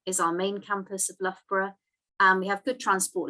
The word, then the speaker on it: Loughborough: where loughborough is and this is how it's pronounced by the way it's not luger beruga it's not lobro it's not luff bra it's loughborough and it's right in the center of the